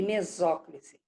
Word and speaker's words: mesóclise: Mas o correto é próclise, ênclise e mesóclise.